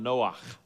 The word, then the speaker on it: Noach: In Hebrew, the name Noah is spelled Noach, and the word Noach is related to the Hebrew word for rest.